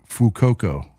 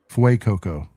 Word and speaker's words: Fuecoco: Fucoco, Almost. Fuecoco, Yes. You got it on the second one.